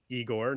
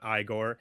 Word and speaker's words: Igor: One is that the character's name is Igor, not Igore.